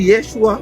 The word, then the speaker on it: Yeshua: Il a très bien prononcé comme moi. Monsieur Kao. C'est Yeshua.